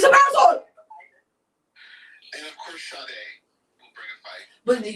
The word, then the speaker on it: Sade: If you see it, just real quick, if you see a baby's name spelled like shade, that is actually Sade.